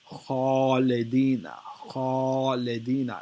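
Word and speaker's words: خالدين: Khalidina is the correct way to say it because it's heavy.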